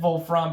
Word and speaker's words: Wolfram: wolf VF Ram yeah I know his name is Wolfram but it's the German word for Tungsten therefore I'm calling it wulfram because the pronounce their W's as V's okay so it's vul